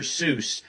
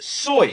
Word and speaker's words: Seuss: If this wasn't supposed to be pronounced Dr. Seuss, how was it supposed to be pronounced? It's correctly pronounced Soy.